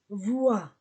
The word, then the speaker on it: voient: La terminaison ENT ne se prononce pas. Voient.